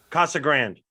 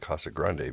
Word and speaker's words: Casa Grande: york if you're no people in arizona don't use accents when they pronounce spanish things which always just messes with me we're going to casa grande they're like casa grande